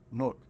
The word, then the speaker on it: Newark: and I'll be like, Newark. Yeah, like it's one syllable. Yeah, type shit, just one, Newark.